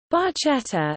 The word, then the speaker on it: barchetta: Barchetta, Italian pronunciation, barchetta, which translates as little